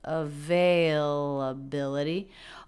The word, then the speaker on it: availability: really stretches it out the stressed syllable their availability is bill but the syllable veil availability also has a little bit of stress availability da da da da da da so the primary stress is on the fourth syllable but there is secondary stress on the second syllable availability availability hi do